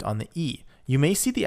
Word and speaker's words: e: Make sure that you can differentiate between, in terms of the pronunciation, between è, like egg, which is it is he is, she is, versus e, which means and, which has no accent on it. So e.